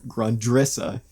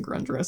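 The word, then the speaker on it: Grundrisse: quoting the girl in grundrissa which up until a couple days ago i was pronouncing grundrus so thank you dan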